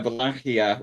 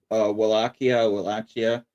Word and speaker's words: Wallachia: But yeah, you can see on the map right there, Wallachia, which I know it looks like it's pronounced Wallachia, but I'm actually using the proper Romanian pronunciation of it.